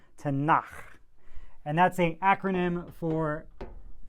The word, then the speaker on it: Tanakh: They also call it the Tanakh. You get to clear your throat a little bit when you say that word. Tanakh.